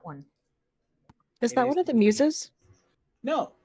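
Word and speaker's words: Themis: Oh, is it Themus? I mean, yeah, probably. I mispronounce this all the time. It's close enough. It is Themus.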